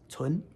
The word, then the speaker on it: 存: Let's do a 2nd tone. Tsun. Tsun means to keep or store.